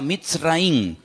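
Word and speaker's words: מצרים: país de Egipto que en la Biblia se pronuncia mitz raí se escribe al principio con una letra men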